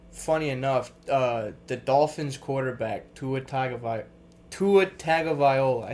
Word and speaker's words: Tagovailoa: We're kind of switching sports here, but funny enough, the Dolphins quarterback Tua Tagovailoa.